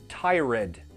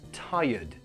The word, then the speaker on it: tired: case you feel tired be careful of the pronunciation it's not tie-red new it's tired tired say it with me tired usually from